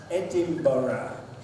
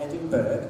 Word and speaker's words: Edinburgh: names for example the first place here is pronounced Edinburgh not Edinburgh Edinburgh there we have Worcester Leicester mr.